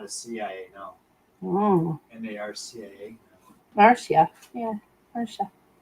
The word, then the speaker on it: Marcia: She says pronounced like Marcia. I told you, didn't I? Did I not tell you? Hi, Marcia.